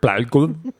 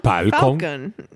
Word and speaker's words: Falcon: Millennium Palcon. What was that? Millennium. Falcon.